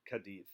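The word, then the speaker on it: Cádiz: the port of Cadiz I know it spelled sea ADIZ but Spanish pronounced at Cadiz so he sails out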